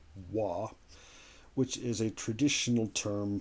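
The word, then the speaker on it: 和: And what that is the symbol is pronounced wa, which is a traditional term for, well, something that is Japanese.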